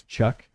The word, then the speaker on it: Khuhk: K's name is Chuck. It's a palindrome. It is spelled Khuhk.